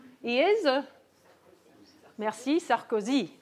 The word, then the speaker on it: Sarkozy: He's not Sarkozy or even Sarkozy. He is merci Sarkozy. Okay, so French, the stress is always at the end.